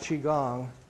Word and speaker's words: Qigong: So I'll do my best, but part of the purpose today is to talk to you about Qigong. And the pronunciation of the word is Qi-Gong.